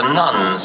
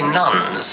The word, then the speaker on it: nones: When I say nuns, you understand that's spelled N-O-N-E, not N-U-N.